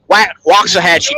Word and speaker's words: Waxahachie: Railroad Park in waxahach Waxahachie Texas you got to say it right it's Watts Not wax so here's the line